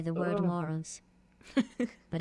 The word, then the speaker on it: Moros: It's pronounced Moros. Mus. Is the R strong in it so I can say mus? It's not very enunciated. No, none of it is. Okay, so It's Greek. mus.